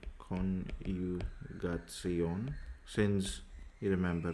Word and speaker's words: Konjugation: So it's called verb conjugation, or in German Konjugation, you can say Konjugation, since you remember, right? J, which is yacht, pronounced as year.